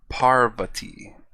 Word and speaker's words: Parvati: feet tall shiva and parvati i don't think i said how is it pronounced par to me i would say par vati anyways parvati's wedding said